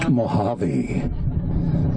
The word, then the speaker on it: Mojave: the house of o.j bassard i said it's pronounced mohave i learned they said what are you going